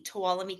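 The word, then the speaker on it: Tuolumne: How do you spell that county name? T U O L U M E. Towalami County.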